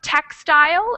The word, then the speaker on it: textile: the first one yeah it's the first one textile textile exactly Joseline next word